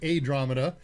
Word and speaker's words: ADRAMADA: Not Andromeda, but ADRAMADA. And it's not spelled like Andromeda. There's no E's in it. It's all A's.